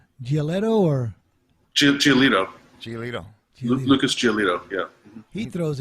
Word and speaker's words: Giolito: You pronounced his name right, Rick. Was it Giolito? Giolito or? Giolito.